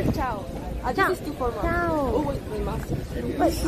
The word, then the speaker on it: chao: Chilean don't pronounce well the CH, like ch.